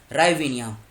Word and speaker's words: hryvnia: Currency क्या है, राइविनिया, H silent है, HRYVNIA, ये इसकी क्या है, ये इसकी करेंसी है।